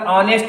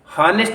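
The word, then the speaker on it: honest: हॉनेस्ट इसको हम लोग नहीं पढ़ते हैं, इसका जो प्रोनाउंसिएशन है वो ऑनेस्ट पढ़ा जाता है, ऑनेस्ट, ऑनेस्ट। ऑनेस्ट हम लोग देखते हैं, ऑनेस्ट में एच जो है साइलेंट है, ऑनेस्ट इसको पढ़ा जाएगा,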